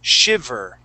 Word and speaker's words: shiver: The word is shiver. Shiver. Okay, so remember, when we pronounce that V, Okay, your top teeth are going to go right on your bottom lip.